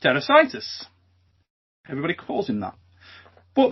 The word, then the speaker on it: Tarasaitis: So it should be pronounced Mindaugas Tarasaitis.